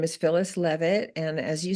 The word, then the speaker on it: Leavitt: Now let's get communicating with Phyllis Leavitt. Did I say that right? You Leavitt.